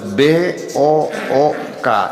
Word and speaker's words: book: Begitu B-O-O-K, dibacanya book.